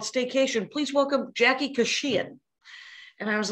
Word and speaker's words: Kashian: No. No, it's Stay-Kashian. Because Stay-Kashian is like vacation. And I named it that in the hopes that people would name my would pronounce my name right.